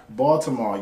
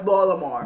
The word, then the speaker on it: Baltimore: Yeah, next is Baltimore, yeah. No, it's Baltimore. Baltimore? Yeah. Okay, there we go. You can't pronounce the T.